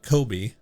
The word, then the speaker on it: Kobe: Why does he pronounce Coobe like Kobe? Because that's how you're supposed to say it.